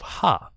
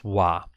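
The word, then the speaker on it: は: the heart will open will be changing to pronounce as instead of ha and this is the only time when it is pronounced as wah so when it being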